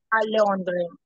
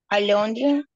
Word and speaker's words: Londres: itali bien Erica Rodríguez Londres a Londres la no se pronuncia la final Londres Londres ang bien FR eh